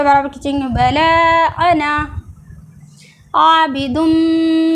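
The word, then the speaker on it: أنا: दें कुरान शरीफ में जब भी कहीं पे भी अना आता है तो इसका अलिफ नहीं पढ़ा ये जो इसके बाद जो अलिफ है इसको नहीं पढ़ा जाता है यानी कि उसको वो साइलेंट है अना पढ़ेंगे हरकत के साथ यानी कि ज़बर जबर पढ़ेंगे छोटा आ की तरह अना वला अना आबिदुम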